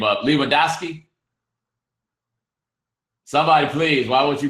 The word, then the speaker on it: Lewandowski: Um, Lewandowski. Oh, Le Oh, it's pronounced like Leandowski.